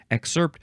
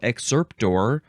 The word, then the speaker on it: excerpt: am I excerpting yeah maybe you emphasize the second syllable more often exerpt so excerpt or excerpt that is a noun that